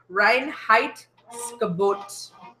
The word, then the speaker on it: Reinheitsgebot: Reinheitsgebot. Okay. This bottom part is bot. Bot. Bot, like bot.